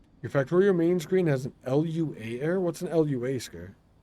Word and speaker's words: Lua: that at all oh UA is a programming language pronounced Lua ah I see is